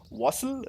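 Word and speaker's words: Wastl: it what's his last name how do you pronounce that wassel really okay wassel okay eric wassel yeah that's his last name eric he's the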